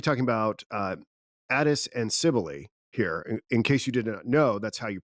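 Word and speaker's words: Cybele: We're going to be talking about, uh, Addis and Cibily here. In case you did not know, that's how you pronounce the name of this mother goddess that is going to preoccupy us primarily today.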